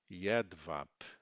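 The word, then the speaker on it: jedwab: sem vogais na sequência, a consoante B ao final das das palavras passa a ter o som do P, conforme as palavras abaixo. Então, sempre que o B não aparecer dentro de uma palavra, ele aparecer no finalzinho, a última letra daquela palavra, ele muda o som. O som dele muda para p.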